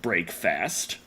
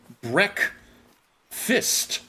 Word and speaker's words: breakfast: breakfast the problem being while it is spelled break fast that is a very awkward thing to say in English uh and you're not saying break fast you're pronouncing it Breck fist which happens to be the only time those words are ever pronounced in that way so it's just what